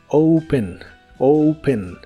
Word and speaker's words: open: Open que significa abrir se pronuncia como si tuviera una u después de la O open open y usaremos el verbo